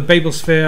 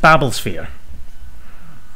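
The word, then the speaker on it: Babblesphere: and you could win uh one of the Babel spere uh CDs Tom Baker story I'm going to stop you it's pronounced babbles spere okay see that's the Douglas Adams fan now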